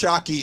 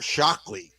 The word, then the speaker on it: Shockey: He got hit hard, and I'm taking the L out. I'm finally saying it right. Chris Shockey is he's been following me for about 2 years now, and he's on the Hockey Warriors, which is USA Hockey for disabled veterans. And he got the. But I've been saying his name wrong. I've been putting an L in there, Shockley.